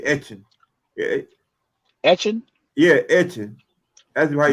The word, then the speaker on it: Etienne: interview on tv and they asked him how to pronounce the name this man said in southwestern you supposed to say action okay action yeah that's